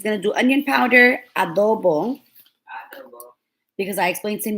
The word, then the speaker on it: adobo: He's going to do onion powder, adobo. Because I explained to him yesterday how to say it, because he was like, is it adobo? And I said, no, it's adobo.